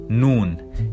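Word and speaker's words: نون: Then we have Noon, and it sounds like a normal N.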